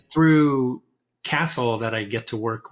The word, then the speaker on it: CASTLE: I'm also the founding director of a university center called CASTLE, not CASEL, the social emotional learning CASTLE that most people know. My castle, spelled like the medieval castle, has been around since